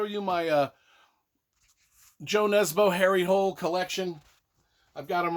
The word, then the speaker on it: Harry Hole: norwegian some people say harry hooley some people say harry h-u-l-l-hole i say it's harry hole like it's spelled uh you know it